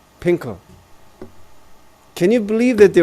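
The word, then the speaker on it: Fin.K.L: Is that how you pronounce the name? Is it Pinkle or Finkel? Pinkel.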